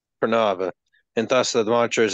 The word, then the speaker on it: Pranava: How do you pronounce it? Pranava. Pranava.